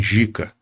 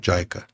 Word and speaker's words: JICA: com a agência japonesa, tava escrito assim, Jica, que a pronúncia certa é Jaica.